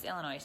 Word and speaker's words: Illinois: it was so cool the S is silent cat says stop saying it alright alright Illinois Illinois just kidding teasing yeah